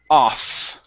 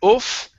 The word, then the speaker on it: off: good next is okay the word off right here instead of oof okay no jumping off